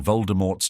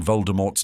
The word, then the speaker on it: Voldemort: years we've been pronouncing Voldemort's name wrong in the original it should be said as Voldemort without the T sound at the end JK Rowling was inspired